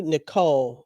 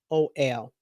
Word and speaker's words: Niccol: It was written by a man named Andrew Nicole. I think I'm saying it right. It's Niccol.